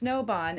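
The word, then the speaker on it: Snöbahn: so it's Snowbond, and it's spelled kind of differently, and I don't want to do this incorrectly to spell it. SNO, and it has the two, I think it's German. So SNO with the 2 little dots, BAHN.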